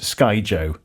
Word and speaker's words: Skyjo: in the blog, showing us how to play it and confirming it's pronounced Skyjo.